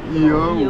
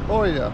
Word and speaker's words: Oia: Et ensuite de ça, Oia, c'est ça? Ia ou Oia. Ça s'écrit Oia en tout cas.